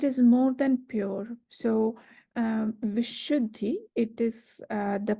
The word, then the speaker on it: Vishuddhi: One thing is very, about the terminology Vishuddhi itself. The term Vishuddhi, or this word, is a Sanskrit language word, and it means pure. But it is more than pure. So Vishuddhi, it is the pronunciation of Vishuddhi is consisted of two.